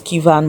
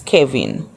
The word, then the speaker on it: Kevin: Like I said, I've been saying his name wrong. I thought it was Kievan, but apparently it's Kevin.